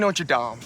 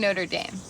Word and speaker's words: Notre Dame: thinking of going to college I was thinking Notre Dame you mean Notre Dame Notre Dame no you had it right first time they're